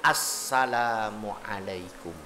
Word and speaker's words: Assalamualaikum: Baca salam, ulah disarwakeun disamain dengan Assalamualaikum. Ada tasdidnya, Assalamualaikum. Rukun qauli sudah terlaksana, awas ada syarat.